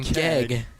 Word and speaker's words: Gegg: in the lineup because I keep pronouncing it as Grayson Gregg, but it's Grayson Gegg. Gegg? I'm saying Keg.